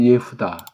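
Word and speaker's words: יהודה: 이 유태라는 그 한자말, 우리는 원어 발음을 하면 예후다.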